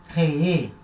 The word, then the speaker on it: créez: Vous créez. Agora repara, a última sílaba agora já é uma sílaba forte, então tem que falar ela.